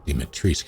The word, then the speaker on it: Dimitrescu: Dimitrescu is how you pronounce that.